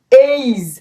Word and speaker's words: age: সো এটি কিভাবে উচ্চারিত হবে? ওর উচ্চারণ হবে এই, এইজ এইজ এইজ। ই উচ্চারিত হবে না, ই উচ্চারিত হবে না, ঠিক আছে?